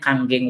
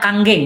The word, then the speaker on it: Kangen: Saya pengen menggambarkan bahwa ternyata ada sebuah solusi electrolyte reduced water dengan brand namanya Kangen Water. Bacanya Kangen, bukan kangen. Kangen mah rindu ya.